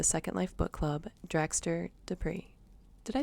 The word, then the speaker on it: Despres: I'd like to welcome award-winning filmmaker and the host for the Second Life Book Club, Draxtor Despres.